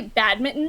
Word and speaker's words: badminton: She's like, "Is that how you say it?" And I was like, "Yes, because I say all the letters." We Canadians are not allergic to T's.